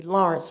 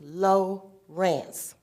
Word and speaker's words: Lawrence: They have a tendency Lawrence, but it's low Rance.